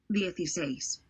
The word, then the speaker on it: dieciséis: dieciséis, dieciséis, Okay, and the last four letters are 6.